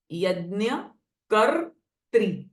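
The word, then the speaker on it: यज्ञकर्त्री: यज्ञ प्रिया यज्ञ कत्री सो देर र sound before त्री यज्ञ कर त्री ओके यज्ञ प्रिया यज्ञ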